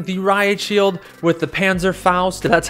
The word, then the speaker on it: Panzerfaust: we are running the riot shield with the panzer faust that's how you uh pronounce it i've always wanted to run this